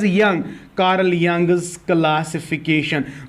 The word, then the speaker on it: Jung: It is written as Jung but it is pronounced as Young, Karl यंग्स classification.